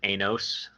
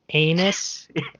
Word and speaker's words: Anos: yep, I think it's Anos. Like that's how it's pronounced. I'm trying to pronounce it a little differently so Anos. I don't accidentally call the main character Anus.